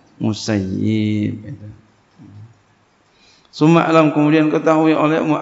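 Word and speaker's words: المسيب: Jadi jangan bacanya sayyab. Takutnya ini, ya. Waspada aja sama doanya, ya. Ya, karena beliau telah berkata, ya, ketika orang ahli Irak mengatakan sayyabuni, ya telah ya sayyabuni, mereka telah ya mengihmalkan aku. Semoga Allah mengihmalkan mereka. Jadi kita jangan sampai masuk ke dalam doanya nih. Jadi seyogianya bacanya musayyib.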